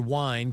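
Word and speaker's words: wīn: The English word wine comes from the Old English word win, which might sound familiar. It's spelled W-I-N, but pronounced like ween.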